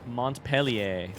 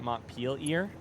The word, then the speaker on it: Montpelier: Well, you pronounce it French, so do with that what you will.